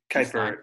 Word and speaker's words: Kuiper: talk about that yeah kuiper uh kuiper belts how it's pronounced and if you go